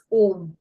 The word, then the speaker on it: ओम: to chat मंत्र ओम so basically अ उ म यह तीन अक्षर मिलके ओम शब्द होता है सम पीपल स्पेल ओ